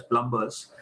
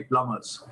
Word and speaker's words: plumbers: we pronounce it as plumbers actually the right pronunciation is the B is silent it's actually supposed to be plumbers okay but in India